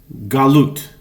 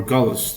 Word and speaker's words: galut: Thi this can be conveyed in a simple word galut or galus depending on your pronunciation galut which means exile.